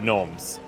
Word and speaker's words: gnomes: Okay, I think we go and we save the gnomes. now. It's So, pronounced Gnom.